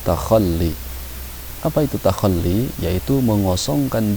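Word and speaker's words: تخلي: Ini dibacanya takhalli.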